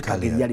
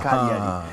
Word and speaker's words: Cagliari: Then Juventus is Cagliari, not Cagliari, but Cagliari. The G is silent.